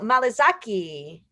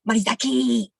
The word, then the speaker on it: Morizaki: This is Malizaki. Whoa, hey, I'm Morizaki, the 17th wonder of Japan. My name is pronounced Morizaki, but a lot of time white people don't want to say it right because they think if